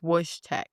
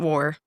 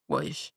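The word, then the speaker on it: Wojtek: And I was mispronouncing the Syrian bear's name. I kept saying war. His name is Woo. W O J T E K. So, not war. Woo.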